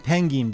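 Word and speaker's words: ペンギン: get into um listen I'm saying pengin because this is a Japanese word and so is this y penguin is weird it's pronounced penguin in Japanese all right not my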